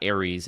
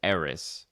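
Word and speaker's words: Ares: Um, I don't like Jared Leto and I like it even less now that his name is not Aries, it's Aerys.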